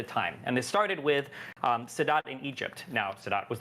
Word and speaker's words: Sadat: Am I pronouncing Sadat? Anwar Sadat? Sadat.